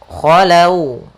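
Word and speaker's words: خلوا: Kemudian khalau, wawunya agak lembut karena dia huruf lin. Apabila ada huruf waw di dalam fathah, maka dinamakan dengan bacaan lin. Yaitu lembut dalam pelafalannya. Dan huruf waw makhrajnya adalah kita majukan sedikit bibir kita untuk menyempurnakan daripada huruf waw itu.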